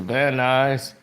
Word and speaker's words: Van Nuys: And they said, this flight, and Joseph Cirillo says, to and from Las Vegas to Van Nuys. He pronounced it the news, Van Nuys.